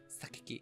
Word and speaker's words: 榊: Sakaki. Okay, so I am saying it right.